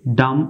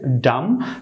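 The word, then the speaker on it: damn: এখানে এন অনুচ্ছারিত থাকবে যেহেতু এন এর পরে কোনো ভাওয়েল নেই ডাম উচ্চারণ করতে হবে এ ওয়ার্ডে সঠিক উচ্চারণ করতে হবে ডাম তবে লেখার ক্ষেত্রে আপনাকে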